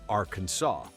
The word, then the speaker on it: Arkansas: Imagine the audacity, a state spelled Arkansas, yet legally demanding you say Arkansas.